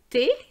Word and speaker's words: thé: We are going to say l'hôtel, l'hôpital, le thé. And here you're going to see that The H is really silent. We're just pronouncing the T and the A sound.